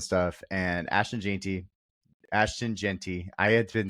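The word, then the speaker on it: Jeanty: missed I missed it the commentators kept saying Gentry so at least you didn't throw in extra letters gy was his like how they pronounced it last year and that's why I was following that and then this year they're like Genty and I'm like what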